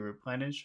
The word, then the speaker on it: replenish: And in that word replenish, which syllable has all of the force? Plenish, Plen. replenish, Plen. Replenish. Just plen. Just plen.